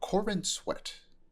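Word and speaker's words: Corenswet: character um so David cor Corin said g Corin sweat is how it's pronounced um um it is reported that he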